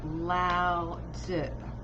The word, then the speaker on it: Lao Tzu: On my personal page, I'm personally reading um, the Tao Te Ching by, I'm gonna mess up his name maybe, but Lao Tzu, I believe, is the correct Chinese pronunciation.